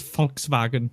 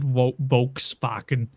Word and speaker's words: Volkswagen: V in German is F. So that's Volkswagen, not Volkswagen.